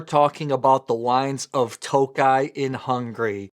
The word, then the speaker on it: Tokaji: hours Northeast of Budapest often you'll see the wines with an i at the end that still pronounce toai it just means that